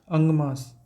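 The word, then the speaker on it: आगम: कहा जाता है अंग अंग मास अगम यह एन साइलेंट है अगम कहते हैं इन्हें 46 टेक्स्ट है यह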